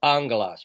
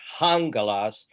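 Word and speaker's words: ἄγγελος: Angalas. But notice that the breathing there is unaspirated. It's not hungalas. It's angalas.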